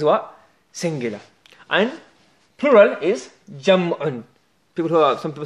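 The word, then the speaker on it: جمع: And plural is Jam'un. Some people say Jama'.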